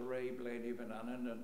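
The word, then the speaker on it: Reih Bleeaney Vannan: when i was involved we used to call it the ray blaney banan and there are different ways of pronouncing it but what i discovered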